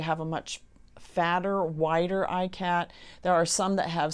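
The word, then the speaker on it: Ikat: So we went with ICAT, which is spelled I-K-A-T.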